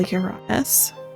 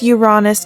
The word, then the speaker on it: Uranus: I might sell Uranus. And yes, it's Uranus, not Uranus. Different phonetic alphabets, different word pronunciations.